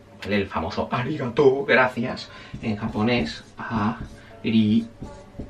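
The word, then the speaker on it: ありがとう: me sale ahora, es arigató. ¿Vale? El famoso arigató. Gracias. En japonés ari u. Escrito en japonés escribe arigato u, pero no se pronuncia aigatou, se pronuncia aigatou. Se alarga la o.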